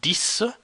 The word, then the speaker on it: dix: D-I-X, it's pronounced dis, it means 10.